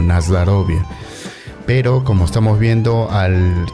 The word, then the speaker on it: Na zdorovie: nas dorie Sí pero en la pronunciación del idioma ruso muchas de las vocales o suenan como a Y bueno ya es parte de en este caso mi conocimiento el ruso que yo lo pronuncio como nasd rovia Pero como estamos viendo